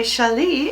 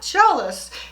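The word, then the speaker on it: challis: way wreck or wall i know how to say shali shali shali shali so many of you told me how it's not jealous it's shelley i love it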